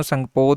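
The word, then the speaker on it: Tsangpo: सो उत्थे इसनूं संगपो के नाम नाल जिहड़ा है जाणिया जांदा है। तो टी लगती है बई, ठीक है, साइलेंट है जो कितने संगपो जिन्होंने कहा जाता है।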